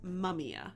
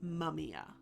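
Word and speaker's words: mumiya: to the 11th centuries and they called this mumia. That is spelled m u m i y a mumia.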